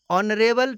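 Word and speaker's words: honourable: next example है ऑनरेबल teacher, इसमें भी टीचर के पहले ऑनरेबल एडजेक्टिव का प्रयोग हुआ है और इसमें भी एच साइलेंट है और इसका उच्चारण वोवेल की तरह हो रहा है, इसलिए ऑनरेबल टीचर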